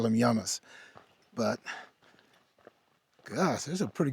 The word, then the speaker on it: llamas: Here in Spanish, the double L is pronounced with a Y sound. So here we just call them Yamas.